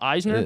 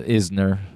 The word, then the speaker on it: Isner: it all right tomorrow morning yes john uh eisner isner isner not a great start versus my opinion is learn how to pronounce these names i know yannick sinner yeah